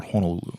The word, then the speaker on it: Honolulu: So I went to Chinatown in Honolulu, or Honolulu, if you want to pronounce it correctly.